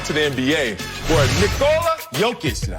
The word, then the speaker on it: Jokić: let's move on to the nba where nikola yokis did i say it right this time yes